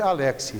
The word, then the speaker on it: Alexy: esse senhor aqui robert alexy vocês vão me pronunciar robert alexy porque não é ele não é alexcina ouviu né francês ele é alemão se chama robert alexy